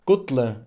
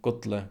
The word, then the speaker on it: gull: Notice that modern Faroese double L is pronounced DL, as in modern Icelandic.